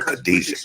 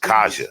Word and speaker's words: Kaja: Well, let me quit calling her Khadijah, Kaja.